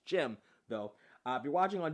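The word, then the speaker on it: Jem: If you're watching the original version, the song that you hear is a song called They by Jim, spelled J-E-M, as in Jim and the Holograms.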